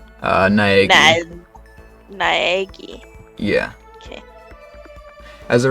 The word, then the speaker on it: Naegi: do you pronounce that last name? Naegi.